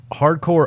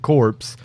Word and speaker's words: Hard Corps: those games flopped now hardcore uprising it is pronounced core i have gotten jumped on before because i pronounced it corpse uh hardcore uprising is